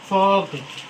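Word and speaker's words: folk: इसलिए ये साइलेंट है। इसे पढ़ेंगे फोक।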